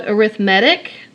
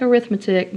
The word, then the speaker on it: arithmetic: One is called arithmetic. I know it looks like arithmetic, but they put the emphasis on a different syllable.